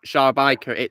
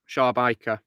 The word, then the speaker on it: Szarabajka: Wait, how do you pronounce that again? Szarabajka. It's Polish. Szarabajka.